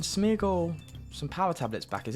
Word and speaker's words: Smeargle: power tablets back so smeagle yeah what is this lord of the rings um oh wait that's smeagle i said it right um we can smeargle some power tablets back